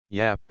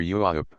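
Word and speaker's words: Yap: dispossessed the Aboriginal Swain yep or rather yuup with a prolonged broad a the pronunciation invariably used by the natives means in their old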